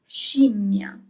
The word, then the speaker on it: scimmia: The next mysterious word is scimmia.